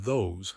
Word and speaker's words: those: In rapid casual American English, the th often gets dropped or softened in those and that especially after a consonant. Look at that guy. Look at that guy. One of O days. One of those days. Who are O people? It is not proper English, but it is real English. However, for you as a learner, keep the throng. Those. It is safer to be clear than to be too casual and sound lazy.